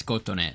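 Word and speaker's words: Kotone: koton yo let me figure out how to pronounce it yeah it's koton so her um in the vision MV for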